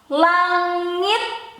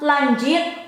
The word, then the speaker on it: langit: So it is not lanjit, langit, lanjit, langhat. No.